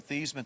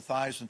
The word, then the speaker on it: Theismann: think by just simply changing the pronunciation of your last name from theisment to thighs and to rhyme with highs and we can get